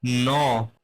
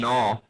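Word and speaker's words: gnaw: रस्सी से बना हुआ नो ये एक बहुत इंपोर्टेंट वर्ड है नो इसमें जो जी है स्टार्ट में वो साइलेंट है नो नो का मतलब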